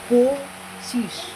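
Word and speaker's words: পঁচিশ: After chobbish, so okay, after chobbish we have 25 means pochish. Pochish. 25 means pochish. Pochish. 24 means chobbish. 25 means pochish. First here this is po, then cho, then hoshi chi, then talbosho chish. Pochish.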